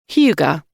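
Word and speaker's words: hygge: It's not my fault if you're trying to pronounce a Danish word that loosely translates as cozy, but you're pronouncing it wrongly because you've only ever seen it written down.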